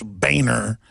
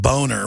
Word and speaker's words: Boehner: your family name but he even had a campaign when he first ran for congress saying it's Boehner not boner we had to find